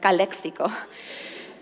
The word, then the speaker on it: Calexico: the Border it's Calexico I'll say it correctly Calexico and then where she was from was Mexico